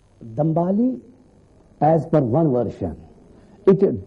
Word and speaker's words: Dhambali: And here in Kashmir, we pronounce it as Dhambali.